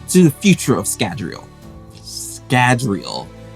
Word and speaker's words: Scadrial: Scadrial. I'm saying it right this time, I hope. I think I pronounced it Scandriel in previous videos.